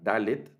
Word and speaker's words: dalet: letra que se llama dalet que es esta cuarta letra la tablet que el sonido de la galette es el equivale al sonido de nuestra d es como una de